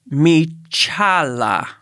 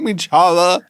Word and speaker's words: Michaela: Okay, so this one, her name is spelled like Michaela, but there is a phonetic pronunciation that says Michala. Michala. Not Michala. Michala.